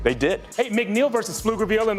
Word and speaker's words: Pflugerville: Hey, McNeil versus Pflugerville, and the guys from the land of the silent P made some noise.